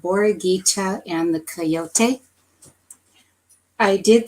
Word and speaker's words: Borreguita: Ayutla is a city in western Mexico, and it has pronunciations. So here it's called Mexico. Borreguita is Spanish for little lamb. Borreguita.